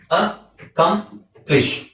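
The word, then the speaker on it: accomplish: ಅ company ಆಯ್ತಾ next ಅ ಕಂಪ್ಲಿಷ್ ಅಕಂಪ್ಲಿಷ್ ಅಕಂಪ್ಲಿಷ್ ಅಕಂಪ್ಲಿಷ್ ಆ ಅಂತ ಬರೋದಿಲ್ಲ ಅದು ಅಂತ ಬರುತ್ತೆ ಅಕಂಪ್ಲಿಷ್ ಓಕೆ ಸೊ ಇದರಲ್ಲಿ ಏನು ಅಬ್ಸಲ್ಯೂಟ್ಲಿ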